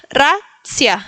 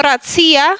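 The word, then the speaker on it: racja: No ratsía, sino racia. El segundo ejemplo lo puse a propósito porque en polaco no se pronuncia la ran fuerte, no es ra, sino racia, como si fuera solo una ruviera en el medio. No importa si empieza con r, es racia, suavecito. Racia.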